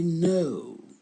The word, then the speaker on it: know: Ne prononcez pas le K. Il est là, mais on ne le prononce pas. Ça donne I know.